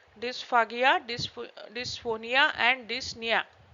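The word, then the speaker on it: dyspnea: dis dis phonia and dnia p is silent here okay dnia so these are the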